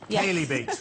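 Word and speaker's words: Chalybeate: Is it Kaybe? Yes. Kay beats. Right. Okay. Shay beat shows we've never heard of it. And local pronunciation.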